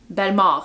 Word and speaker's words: Bellemare: speak French I do Ben mauve is actually how you pronounce my last name don't you guys can pronounce it Belmer but yes we are